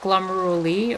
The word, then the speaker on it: glomeruli: the columbus will be is that glomeruli or from glomeruli like how do you pronounce that zero also what is the point of counting them just out of curiosity the ending rhymes with lie okay thank you i